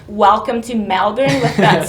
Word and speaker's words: Melbourne: from Melbourne, poor things, they pronounce that E sound a bit lower before an L, like welcome to Melbourne, and they say salary and celery the same way, whereas in New South Wales people distinguish between celery and celery.